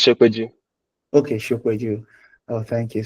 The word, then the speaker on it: Shopeju: did I pronounce your name well? It's Shopeju. Okay, Shopeju. Oh, thank you. So it's Shopeju. You might be wondering who's Shopeju. So Shopeju is currently works as a machine learning engineer